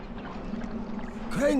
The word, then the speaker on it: Crane: Crane rhymes with train, and brain, and sane, and grain, and rain, and plane, and the other kind of plane, and...